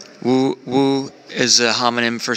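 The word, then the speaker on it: 五: How do you say five? Yean. Woo. Woo. Woo. And woo sounds like good fortune.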